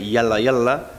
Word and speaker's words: Yallah Yallah: Bueno, Yala Yala se dice en árabe Yala Yala, en argentino ya le pusimos Yala Yala, y cuenta anécdotas y historias de fútbol, de la vida de gente ligada al fútbol.